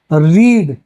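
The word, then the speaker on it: read: आर इ ए D first R इ ए डी तो रीड रेड यानी के same spelling लेकिन different pronunciation याद रखिएगा रीड आपकी ऐसी वर्ब है कि वो सेम रहेगी।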